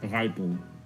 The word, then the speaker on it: Rijpel: like rle rle like but like in English it's like a ripe you know like when a fruit is ripe okay yeah it's just riple to be it's it's I pronounce it as rle all right I rle